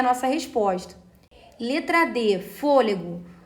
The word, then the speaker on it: fôlego: Nossa resposta letra de fôlego fôlego recebe acento por ser uma proparoxítona né Porque só antepenúltima sílaba tônica portanto não é por